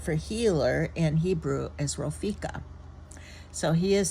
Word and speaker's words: Ropheka: And the word for healer in Hebrew is Ropheka. So he is saying, I am Yahweh Ropheka, your healer. In English, we pronounce that as Jehovah Rapha.